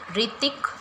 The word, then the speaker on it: Hrithik: Okay, अब है ये ऋतिक रोशन, ऋतिक रोशन, इनके नाम में H साइलेंट रहता है, तो HRITHIK, ऋतिक, इनका सरनेम है रोशन, ROSHAN, ऋतिक रोशन।